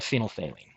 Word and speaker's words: phenolphthalein: Do you think you know how to say it? Could you guess? Could you try? It's called phenolphthalein.